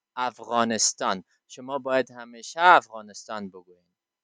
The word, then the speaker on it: افغانستان: They say Afghanistan because they don't have غین in their style of pronunciation. آنها صدای غین را در شیوه تلفظشان نداره. It's very tough for them to pronounce it. بسیار سخت است بر آنها تا تلفظش بکنه. They always say Afghanistan. آنها همیشه افغانستان میگه. But it is not appropriate for us to say Afghanistan. You should always say افغانستان.